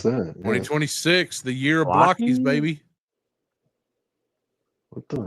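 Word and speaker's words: Blokees: 2026, the year of Blockies, baby. What the? I think it's pronounced Blokies. Yeah, I think you're right. It's Blokies.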